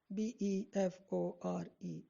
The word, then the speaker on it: before: one say for example the word before before b e f o r e before so here the short syllable is followed by the long syllable right then the other